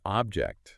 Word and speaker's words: object: Another good one is object. Okay. Object, first syllable stressed. It's a thing, right? But object, second syllable stressed, it means to disagree.